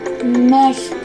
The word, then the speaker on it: México: En algunos nombres de lugares como México se pronuncia México.